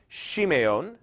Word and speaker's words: Simeon: The second one is Simeon, which would have been pronounced Shimeon. It's an SH sound at the beginning, Shimeon.